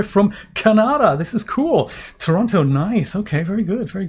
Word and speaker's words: Toronto: Toronto it's actually the correct pronunciation, not Toronto. It's Toronto.